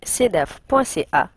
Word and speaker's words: CDÉACF: Si vous souhaitez en savoir plus sur le CEDAF, visitez le site cedaf.ca qui s'écrit cedeacf.ca.